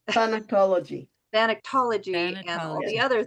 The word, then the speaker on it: Thanatology: And I do believe we'll need to have you back, because we want to talk more about thanology. Did I say it right? Thanatology.